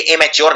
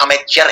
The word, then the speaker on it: amateur: अब अमेचर में लोग इसको लिख देते हैं एमेच्योर, कि भाई ये तो एमेच्योर है, ये एमेच्योर नहीं है, ये अमेचर है।